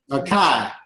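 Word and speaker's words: açaí: Acai. Acai. Yeah, it's a berry. I don't know why people, I always hear them say AC, but it's acai.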